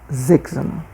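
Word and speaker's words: siebzehn: Atenção na pronúncia, né, do s iniciando a palavra em alemão. Tem um som de Z. Zenon 17.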